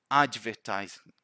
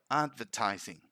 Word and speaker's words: advertising: happens here is that sometimes people put more stress than required in that d and they say advertising advertising see it's not that strong it's subtle like advertising advertising and again use it